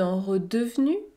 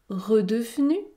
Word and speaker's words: redevenu: l'ogre redevenu lui même je ne prononce pas le e2 redevenu redevenu lui même le chat